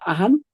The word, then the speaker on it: ajan: Como por ejemplo en ajan es rápido, pero cuando decimos amam, que es araña, se necesita 2 a despacito la pronunciación.